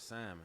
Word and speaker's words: salmon: with salmon. No, hold on a second. You made what? Fried salmon nuggets. It was the salmon. Oh, okay. I mean, does anyone actually pronounce the L?